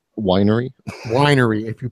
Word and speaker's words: Wein: way to spell wiener when it's German it's always the second letter than between with an IE e when it's a german root word or a german word it's the second vowel that gets pronounced w ein would be wine I'm visualizing this okay